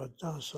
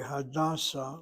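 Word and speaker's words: הדסה: Anyway, Hadassah, with the accent on the first syllable, is the name of a person, individual name, and Hadassah, the second syllable, is basically the hospital.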